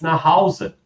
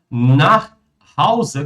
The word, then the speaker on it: nach Hause: Wir fahren jetzt nach Hause. Inclusive, pessoal, até essa expressão nach Hause, como é que vocês vão pronunciar? Nach Hause. Olha o nosso Eschwa.